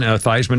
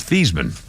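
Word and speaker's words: Theismann: And they reason they changed his name pronunciation was Heisman. Thyman as in Heisman, but his real name is Theman.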